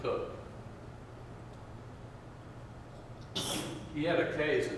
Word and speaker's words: Coke: Constitutional language is Edward cook yes I know it's spelled like we spell the word Coke for the thing we burn but they pronounced it cook he had a case